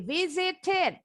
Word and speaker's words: visit: Oke, visited dari kata visit. Huruf V-nya pita suara kita harus bergetar ya. Visit. Aha, good. Visit. Jadi bacanya bukan visit, tapi visit.